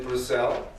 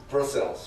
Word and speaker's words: Brussels: of administrative Sciences in brisel is that a correct pronunciation bruss oh Brussel uh in English it's Brussels right or Brussels but anyway excuse my